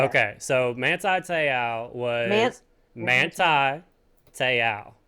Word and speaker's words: Manti Te'o: Okay, so Manti Te'o was Manti Te'o is how you say it.